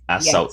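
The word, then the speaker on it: As-Salt: I think that's pronounced that right. Assault. As Salt, Yes.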